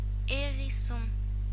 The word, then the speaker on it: hérisson: H is never pronounced in French unless it is placed after C, in which case it is pronounced like SH in English, sh, or after P, in which case it is pronounced like F, f.